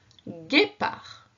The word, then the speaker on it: guépard: Guépard. Donc on peut remarquer en gris la lettre D muette que je t'avais annoncée.